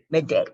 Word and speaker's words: Midday: Midday. Okay. The emphasis on the second.